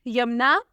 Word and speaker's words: Yamna: The next name is यमुना। प्यारा और trending name है, स्पेलिंग है YAMNA।